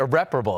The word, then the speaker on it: irreparable: I think that the Giants probably felt like this was a, what would I would say, irreparable, like kind of situation, irreparable. That's how you say it.